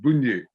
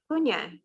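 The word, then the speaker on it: Bugnet: Bougnier, okay. So Thérèse, or you could just say Thérèse. It's not Teresa because it hasn't got the A in it, so it's Bougnier. Yeah, so it's GN is Nye.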